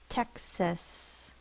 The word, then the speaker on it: Texas: Is a schwa. It is in the unaccented syllable, so the can be represented by any vowel. In this word, it's a. Texas.